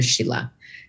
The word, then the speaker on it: Scilla: just gonna call her Sheila so I have an Italian spelling of an Irish pronounced name and I'm Chinese in